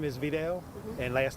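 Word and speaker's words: Vidal: Could we just get the proper spelling and pronunciation of your first name? First name is Videl and last name is.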